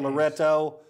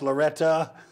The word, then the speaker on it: Loretto: let's finish up talking a little fairview okay unfortunately the girls ran into a buzzsaw loretta spelled loretto pronounced loretta 76-31 but they're a